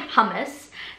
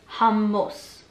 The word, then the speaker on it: hummus: So don't say hummus. That's just like the really Aussie version of it, like hummus. I guess it makes sense because it's spelt like that, but we say hummus. Hummus. Instead of hummus.